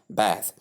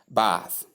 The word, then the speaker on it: bath: When you pronounce man, you have you lift that short a sound from man and place it between the b sound and the sound and you have bath. That is for the US pronunciation. Then in the UK pronunciation, we just lift the long a sound as in part or mark or sam and we place it between the b sound and the sound we have bath. Either case the pronunciation is correct.